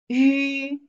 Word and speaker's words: 鱼: Yu, yu, second tone.